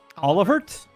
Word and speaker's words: Olivert: intelligence Oliver it the the t is pronounced in his name olivert ryse arnor olivert